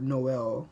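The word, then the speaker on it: Noël: Le trema, the accent mark indicates that back-to-back vowels are pronounced separately from each other. Check out the following words. Naif, which is naive, naif, or Noel, which is Christmas.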